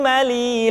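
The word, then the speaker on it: م: Lu, lallani, lalna, minal, mulni, mali, lallani, la. Selanjutnya huruf ma diucapkan dengan cara merapatkan dua bibir.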